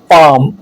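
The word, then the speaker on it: palm: एफ, के, एम से पहले आने वाला एल साइलेंट होता है, जैसे काफ, वाक, याक, काम, बाम, पाम।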